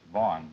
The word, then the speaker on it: Vahan: It's pronounced Vahan in Armenian, but it's Vaughn in English.